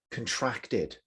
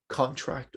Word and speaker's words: contract: is the verb form so again contract or contract depending on if it is a noun or a verb form create create if you